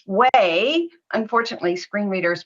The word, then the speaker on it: WAI: Initials are WAI, which we pronounce way. Unfortunately, screen readers pronounce it Y, but that's okay.